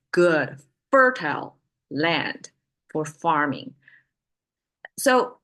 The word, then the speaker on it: 谷: important to us okay it's pronounced as go and it looks mid